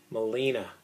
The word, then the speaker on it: melena: Melena, it's pronounced.